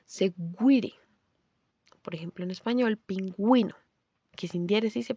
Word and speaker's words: pingüino: para acentuar remarcarla segire por ejemplo en español pingüino que sies se pronunciaría pinguino como pasa con las palabras que tienen esa